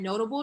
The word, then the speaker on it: Knotable: And you can follow my business's Instagram page at Notable Designs. That's with a K. The K is silent.